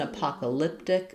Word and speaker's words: apocalyptic: It's an apocalyptic event. Um, so main stress is going to be on on pock syllable and second and also some stress on vent of event.